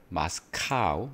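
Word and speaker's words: Moscow: and new and 모스크바를 우리는 마스카우라고 하죠. 마스카우 이게 러시아식 발음이기 때문에 영어로는 마스카우 본래 지명은 모스코우바죠. 음.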